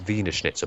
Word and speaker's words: Wiener Schnitzel: Yeah, well, it's actually it's Wiener Schnitzel because, of course, in German they pronounce W's as V's, Yes. so it's Wiener Schnitzel.